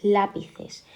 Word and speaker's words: lápices: Por ejemplo, tenemos lápices. Lápices, ¿dónde está la sílaba fuerte? Lápices, lápices o lápices. Lápices, entonces decimos que es esdrújula.